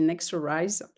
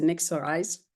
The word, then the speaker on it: Nexorize: Si on veut prononcer correctement, on dit Nexorize. Sinon, l'accent français, c'est Nexorize.